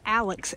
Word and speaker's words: Alex: So we were saying it wrong. It's the Alex, A-L-E-X, Kennedy shelter, and has a fire pit out front, picnic table.